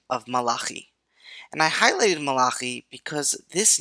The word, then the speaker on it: Malachi: the book of Malaki often pronounced malachi in english is one of the